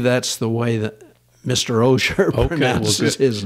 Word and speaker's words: Osher: the way that Mr osher okay this is his name well me me mispronouncing it'll help emphasize the right way to say it with which is a long o yes the osher lifelong learning Institute known